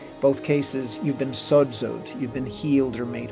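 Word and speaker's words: σῴζω: No, Crino is judgment, and sozo or sodzo, as it's pronounced.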